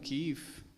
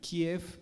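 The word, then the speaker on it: Kyiv: a la capital como kif con la y con las dos y porque es así como se pronuncia en el ucraniano kiev es la forma rusa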